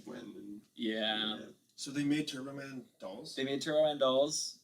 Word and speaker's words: Turbo Man: how much it cost turb calls him turtl man everybody's like it's Turbo Man you tur turb s he go turtle turtle he call Turtle but schwarzer